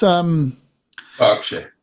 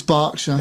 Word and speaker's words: Berkshire: It's Berkshire. It's Berkshire. Is it? Oh, right. Okay. That's how Her Majesty would pronounce it.